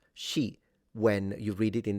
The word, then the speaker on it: 食: But those characters, se and yam, and in Mandarin they're pronounced shi and yin, they still retain their original meanings in Mandarin, and they're now just more formal ways of saying eat and drink.